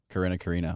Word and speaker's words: Karina: So like okay, the I is different. Karina.